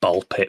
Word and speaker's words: Ball x Pit: Yeah, but it's it's just pronounced ball pit. Ball x pit, but ball pit.